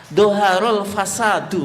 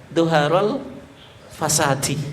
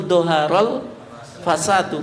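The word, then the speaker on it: ظهر الفساد: Pak mungkin nervous ya doharul fasadu bukan fasadi ya nanti jenengan lihat di youtube-nya Nanti kalau dia baca doharol fasadi yang betul doharol fasadu karena dia sebagai fail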